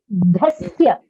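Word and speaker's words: अज्ञानतिमिरान्धस्य: Ajnanatimirandhasya Ajnanatimirandasya. Ajnanatimirandasya. So it has to be dhasya. If you see, it is a mahaprana dha. So you have to pronounce it with a little bit of force.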